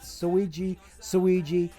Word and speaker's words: Suiji: because he goes with Suiji, but it's pronounced the same as Luigi with an L, but with an S instead of an L.